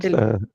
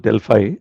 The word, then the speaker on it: Delphi: That's Delphi. in US it is pronounced Delphi, but Delphi is the correct Okay. European pronunciation.